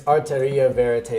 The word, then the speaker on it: Arteria Verite: It's Arteria Verite. That's a really hard thing to pronounce, but basically it's two languages. Yeah. One is Spanish, and the other one is French.